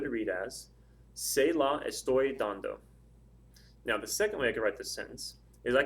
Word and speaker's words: dando: I say dando, dando. Where's the stress? It's over the A.